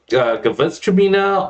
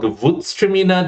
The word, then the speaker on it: Gewürztraminer: And then you've got Gewürztraminer or Gewürztraminer, depending on whether you're Alsace or Germany, pronounces slightly differently.